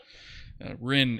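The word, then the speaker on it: Wrynn: Oh, and his name is, the cat's name is spelled W-R-Y-N-N. So I'll just type it into chat there. Rin is his name.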